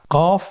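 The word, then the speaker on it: قاف: কফ উচ্চারণের ক্ষেত্রে একটু মোটা করে উচ্চারণ করতে হবে।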